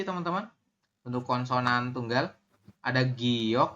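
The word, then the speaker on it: 기역: untuk konsonan tunggal ada Giok oh ini salah bukan goyok tapi giok ya giok niion kemudian setelah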